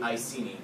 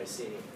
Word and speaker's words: Iceni: The Iceni, which is spelled I-C-E-N-I, which is a Celtic tribe.